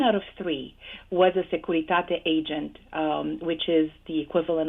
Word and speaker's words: Securitate: How did you pronounce that? Securitate? Securitate.